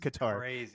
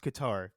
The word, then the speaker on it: Qatar: the Qatar Scandal came up also Joe is pronounced Qatar it's pronounced Qatar Joe again no no no no no the world the World Cup is coming up it's Qatar if you want to get native if you